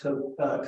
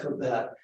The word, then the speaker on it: Cobbett: And about 12 or 13 years later, a radical English reformer by the name of Philip, I think his last name is pronounced Cobbett, Cobbett, showed up in America with